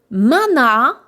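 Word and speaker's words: マナー: Mana, donc mana allongement.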